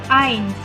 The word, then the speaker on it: eins: Ada kata eins, tulisannya eins, ei dibacanya I, maka jadinya eins.